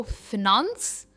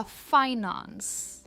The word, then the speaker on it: finance: Next है, इसकी भी दो प्रोनाउंसिएशंस है. आप कह सकते हो फिनांस या फाइनेंस. फिनांस या फाइनेंस. मैं इसे कभी कभी फिनांस भी कहती हूँ, फाइनेंस भी कहती हूँ.